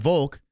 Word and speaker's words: Volk: I mean, Volk rhymes with choke, for God's sakes.